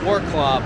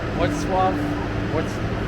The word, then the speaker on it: Wrocław: I want to call it Wroclaw, but I know that's not how it's pronounced, so hopefully I was closer. Wrocław?